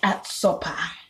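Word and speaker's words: ärtsoppa: Okay, then there's at sopa, which is spelled ARTSOPPA.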